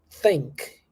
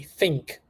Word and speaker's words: think: these words especially Brazilians Brazilian students they have the habit of pronouncing this these words with an F sound so they say think instead of think think and they say thought instead of thought or thought and there and and